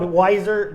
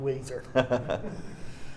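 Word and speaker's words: Weiser: spell it for him yeah w-e-i-s-e-r are spelled wiser but it's pronounced a guaranteed pronounced Weezer great uh can you let us know how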